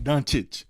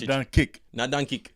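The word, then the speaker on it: Dončić: the Mavericks the donkey how you say his name Luka doncic donchic not done kick No don't kick not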